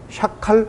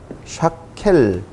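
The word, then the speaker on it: שקר: 그럼 조금 전에 말씀드린 대로 샤켈 이것이 참 한국말로 번역이 되기 때문에 아니 음역을 달기 때문에 샤칼 아니죠? 샤켈 이렇게 발음이 되어지는데요. 샤켈.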